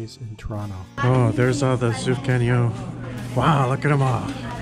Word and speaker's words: Sufganiyot: So we got like 10 Sufganiyot. I don't think that's quite right. Sufganiyot. Yes, there you go.